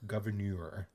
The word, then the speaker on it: Gouverneur: too hard to pronounce it's like a french spelling uh it's g-o-u-v-e-r-n-e-u-r governor oh he's not just